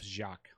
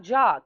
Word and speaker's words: Jacques: scott and yeah but his middle name is spelled j-a-c-q-u-e-s and he was like oh jacques jacques yeah no and it's not jock because he's like it's jaquise